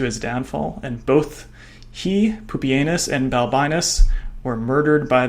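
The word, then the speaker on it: Pupienus: And here we have an Antonianis uh from the Romans of Pupanus and yes that is how his name is pronounced.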